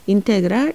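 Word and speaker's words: integral: 일할 인텔 악 이라고 읽어야 해서 읽을 때는 인테그랄 x dx 요런 순서로 읽으시면 됩니다 근데 선생님이 보면 알겠지만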